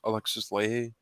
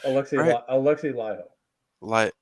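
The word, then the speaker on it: Alexi Laiho: I do know a guitarist that played live shows with Children of Bodom and Alexis Leahy. I think that's how you say his name. Alexei Laiho. Okay, yeah.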